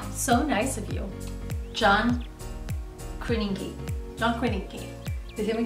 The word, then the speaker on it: Krasinski: It's pronounced Krasinski. Krasinski. I feel for John because Krasinski is hard to say, but also Favaretto is really hard to say too.